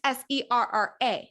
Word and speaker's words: Serra: It's Serra, not Sarah.